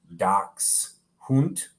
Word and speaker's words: Dachshund: long-haired versus wire-haired um i like how they actually have it pronounced doc's hunt doc's german i'm assuming sometimes called